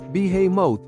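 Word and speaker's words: בהמות: a similar giant creature known in English as Behemoth pronounced as beho in the original language considered by God as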